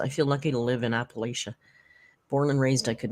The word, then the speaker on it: Appalachia: that those mountains and we say Appalachia but I'm pretty sure they told us the right way to pronounce it was Appalachia you will let us know in the chat now the correct pronunciation Appalachia mountains Appalachia mountains anyway let me know I need to know inquiring minds need to know and thank you in advance short a Appalachia so it was the